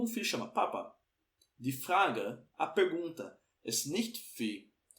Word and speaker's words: Frage: Então aqui, ó, você vai pronunciar o fra, o R na garganta aqui, ó, fra. Die Frage ist wann.